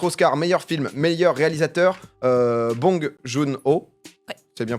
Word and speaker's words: Bong Joon-ho: Côté récompense, donc du coup, Parasite, 4 Oscars, meilleur film, meilleur réalisateur, Bong Joon-ho. Ouais. C'est bien prononcé.